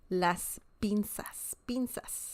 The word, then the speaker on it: las pinzas: z sound in Spanish is very similar to the S sound in English so you don't have to say Las pinzas you you can say it just like an S sound Las pinzas okay so that's an